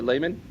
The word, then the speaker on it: Lemon: Uh at the Z you got Jacobe Lane and at the the Y McKay is it Lemon or Layman? Yeah. Mai Lemon.